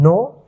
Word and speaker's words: know: You know, know, यहाँ पे के जो है साइलेंट रहता है, नो everything, everything, everything about, about the camel.